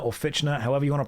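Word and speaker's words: Fichtner: William Finchner, or Fitchner, however you want to pronounce it, is an incredibly underrated actor.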